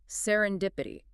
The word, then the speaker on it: serendipity: Serendipity pronounced sir on dipit. Stressing that third syllable dip is critical. Sar and diipit.